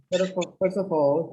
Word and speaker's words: first of all: First of all, please remember, first of, you don't, the T is silent, so you link the S with the O and the F with the A.